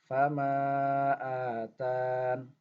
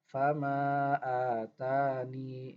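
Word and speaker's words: فما آتان: Sedangkan jika kita membaca dengan majais munfasil 2 harokat, maka kita hanya bisa membacanya dengan hadful ya, yaitu dengan tanpa ya. Sehingga kita baca fama atan. Tidak bisa kita baca fama atani.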